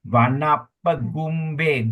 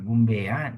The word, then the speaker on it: Vanapagumbe: Okay, we will focus on line 1 and 2 also, Vanapagumbe, gum, you pronounce as G-U-M, gumbe, not gum, Vanapagumbe yata pussitagge.